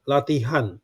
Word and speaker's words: latihan: Latihan means practice.